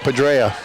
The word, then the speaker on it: Padrea: He's a key, him and Padrea. Did I pronounce that correctly? Padrea, yeah.